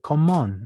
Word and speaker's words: comment: Aquí abajo hay choque de consonantes, así que la T no se pronuncia porque hay choque de consonantes. Ahí la T se dice comment.